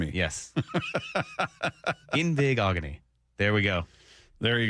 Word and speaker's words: Igbinoghene: Igbinoghene. Igbinoghene. Igbig- Igbig- oghene. That's a fun segment. Don't start having me pronounce oghene. Yes. Igbinoghene. Igbinoghene. Yes. Igbinoghene.